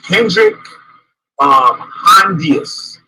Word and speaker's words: Hendrik Hondius: The engraving is from a man named Hendrik Hondius. See what I pronounced the shit right.